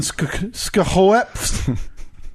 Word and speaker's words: Schoaf: We said you have to pronounce every letter like he's from the islands.